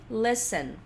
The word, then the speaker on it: listen: Daí a gente tem listen. Presta atenção na pronúncia. A gente não pronuncia o T do listen. Listen.